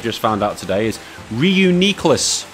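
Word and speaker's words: Reuniclus: ass so we've got Ryu cliff or the perhaps the proper way of pronouncing as I've just found out today is reuni CLIs Ryu Nicolas apparent that's the way the anime pronounced it and what the anime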